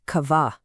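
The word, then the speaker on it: קַוֵּה: The root Hebrew word is commonly transliterated as qavah, but the specific form used in Psalm 27 is Qavveh, pronounced qavah. Hear that emphasis on the second syllable?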